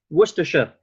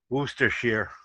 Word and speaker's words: Worcestershire: people are pronouncing it Worcestershire Worcestershire see for me it's shire like it's the shire so I was always opposed to Shire but I've also hear Worchester that's the one I've heard Worchester Shh oh my